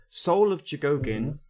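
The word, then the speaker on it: Soul of Chogokin: For example, I used to have Soul of Jigogin Soul of Jigogin. That's how you pronounce it.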